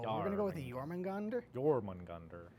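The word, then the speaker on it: Jörmungandr: It's Jormungandr. Jormungand. Or Jormungand. Jormungand. I think the ER is probably added on.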